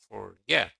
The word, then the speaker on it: forget: Depend is also stressed on the second syllable. Forget.